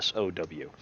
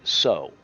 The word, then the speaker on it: SoW: And mostly I hear people call it sew, even though sew is spelled SEW, like sew, a needle pulling thread. But that's still sow, which is a female pig. Sow is SOW.